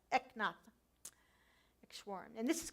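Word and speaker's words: Eknath Easwaran: It's Eknath, and then his last name is Easwaran. And I'm not sure I'm pronouncing it properly, but that's how I always say it, Eknath Eshwaran.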